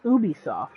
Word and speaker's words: Ubisoft: of people are wrong i've also heard people pronounce ubisoft i've also heard both ways the correct way is ubisoft i hate that even more yeah you would